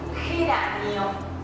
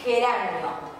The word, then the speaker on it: geranio: Luego tenemos la palabra geranio, que se escribe con G, pero suena igual que la J, suena fuerte, geranio.